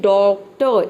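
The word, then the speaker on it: doctor: डॉक्टर और यहां पे आर से पहले कोई वावल अगर आ जाता है तो इसलिए वहां पे आर लेटर साइलेंट रहता है ठीक है यहां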